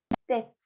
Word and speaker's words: tête: En cambio acá, como tengo una E al final, tête, tête. Si la pronuncio la consonante.